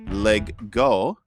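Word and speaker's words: leg godt: Legodt, which is pronounced Lego. Okay. Which means play well in Danish.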